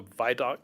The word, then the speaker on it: Vidocq: been online, called the Vidocq Society. I may be pronouncing that wrong. Is that right? It's called the VDOC Society.